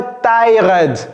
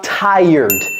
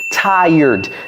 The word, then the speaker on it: tired: Ce n'est pas tyod. Tyr, non, non, non. C'est quoi ? Tired. Tired. C'est comme s'il y avait un Y ici.